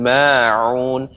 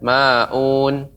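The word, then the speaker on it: ماعون: Ya, pengucapan ain Ibu, pengucapan ain harus lebih lagi mengayun. Jadi ain itu ya jangan sampai seperti alif ya, wa yamna'unal ma'un, tidak ma'un.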